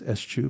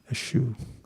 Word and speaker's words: eschew: What does eschew mean? To what? To release? Eschew. It means to refuse. Say how it's pronounced there.